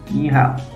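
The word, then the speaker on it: 你好: language as an example hello in mandarin is nihao pronounced like yet pronounced nihao but in cantonese it is nejo and here today we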